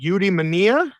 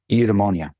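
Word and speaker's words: eudaimonia: So I believe the name of your book is pronounced udemania. Udemonia.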